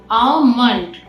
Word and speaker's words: almond: Here the L is silent letter. It sounds like almond.